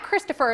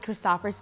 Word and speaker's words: Christopher: So it's not Christopher, it's Christopher. Christopher, yeah. The Danes pronounce it as Christopher.